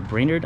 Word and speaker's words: Brainerd: park it's uh near Brainerd I think it's more how you pronounce it Minnesota and uh